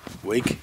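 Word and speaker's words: Uig: along the coast from the campsite up to weak you weak weak the now you pronounce it and now we're at ferry Glen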